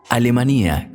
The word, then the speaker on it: Alemanía: ninguna parte alemanía salta alemanía con tilde en la i como lo pronuncian los salteños es un hermoso pueblito